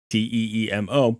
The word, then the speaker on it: Teemo: And I know that there's a Timo in League of Legends, Teemo, pronounced the same way.